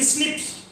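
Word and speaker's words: SNP: आपको बताया था 1.4 मिलियन प्लेसेस ऐसे हैं जहां केवल single nucleotide based differences present है, जिनको बोलते थे एसएनपी, single nucleotide polymorphism, pronounced as स्निप्स।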